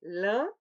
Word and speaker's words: lin: Oui, lent, d'abord le A nasal, lent, ensuite lèvres étirées, lin, et finalement le O nasal, long.